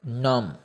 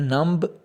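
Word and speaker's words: numb: छठा है नम। नम यानी कि बेहिस। बेहिस को कहते हैं नम, इसमें नम्ब बी नहीं आप बोलेंगे।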